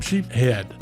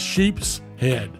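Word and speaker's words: sheepshead: and some sheep head notice I say sheep head where the book says sheep's head and that's really the proper pronunciation but in Florida everybody doesn't use that s we call them sheep head that's where I'm from so that's how I say it but that's the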